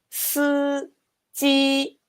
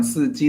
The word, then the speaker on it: 司机: But as we can see, sometimes this I is pronounced E and sometimes is not pronounced at all. Like, can you repeat? How do you pronounce it? Yes. 司机. Oh, wow. So in the first one, 司机, the 司 doesn't have vowel. 司. But the other one, it does. 机.